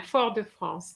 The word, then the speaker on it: Fort-de-France: Rihanna, can you pronounce it? Fort-de-France. Très bien, Fort-de-France.